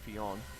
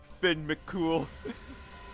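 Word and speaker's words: Fionn mac Cumhaill: I don't even think his name is pronounced Fion. Uh, it's uh, what is it? Oh, Finn Mcool. It's Finn Mcool.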